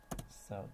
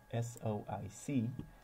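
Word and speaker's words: SOIC: passive package I think the proper way to pronounce the package name is SOI C whereas I just say so I think that's just shorter let's see so I'm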